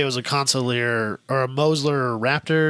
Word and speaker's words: Consulier: Well, I think well he did the I always say the name wrong. How do you say the name? Consulier GTP. Say it again. Consulier.